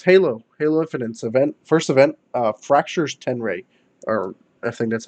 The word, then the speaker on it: Tenrai: bad stuff is Halo Infinite's first event, Fractures Tenray, or I think that's how you Tenrai, pronounce it. Yeah, Tenrai.